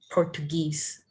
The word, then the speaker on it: Portuguese: and they are Portuguese. Yeah. Guese. Guese. Mhm. Guese. Portuguese. The second Portuguese. W is silent.